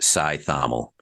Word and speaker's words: Cajthaml: So my full last name is pronounced Sail. So my father's family is Bohemian, which modernday Czechoslovakia. Now um all come from the Prague area there. And as my father's family came over, obviously people had a very difficult time trying to pronounce Scythel because it's spelled C A J T H A M L.